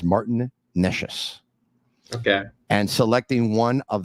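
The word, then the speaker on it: Martin Nečas: By the way, I received a message from someone who knows how to pronounce the name, and it is Martin Neshes.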